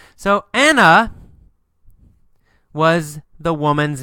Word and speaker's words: Anna: Or in America, we say Anna. Anna. A little bit different pronunciation. So Anna was the woman's name.